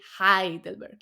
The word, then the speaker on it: Heidelberg: but it's written down Hei, Right, yeah. and you say Heidelberg, like I.